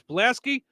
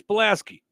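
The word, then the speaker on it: Pulaski: say every year in this area yes it's plaski tomorrow I will call that plasy County I know that's the way people pronounce it around here but the man's name is palaski thank you is it okay is it after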